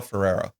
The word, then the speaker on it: Ferrer: Is it Farah? Is that how you say it? I Miguel Ferrer.